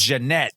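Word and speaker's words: Ja'Net DuBois: And even though it was spelled Janet, she pronounced as Janette because I remember that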